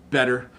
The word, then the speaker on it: better: Butter, water, better, and focus on the T sound. So butter, butter, water, better. Okay, so you hear that? It's like a D.